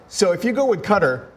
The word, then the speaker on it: Qatar: the locals would say Qatar. But it is an American English pronunciation to say Qatar.